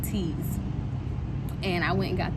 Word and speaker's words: TEAS: So it's spelled TEAS, like TEAS.